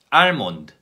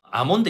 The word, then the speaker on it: almond: 실수하는 단어들이 있습니다 제가 틀리게 한번 읽어 드리겠습니다 알몬드 할 프 샌드위치 핸드 성 톨 크 자의 5개의 단어들입니다 이 단어들 제가 틀리기 읽었습니다 자 첫번째 한번 볼까요 아몬드 입니다 아몬드 아몬드 4에 먼 됩니다 & 건데